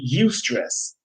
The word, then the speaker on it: eustress: stress eu stress called you can pronounce it you stress okay youth stress is